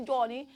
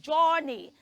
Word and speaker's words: journey: h oh Johnny Johnny you don't pronounce that word as Johnny the word we're talking about is j o u r n e why we don't say Journey that word is rightly pronounced Journey children say journey journey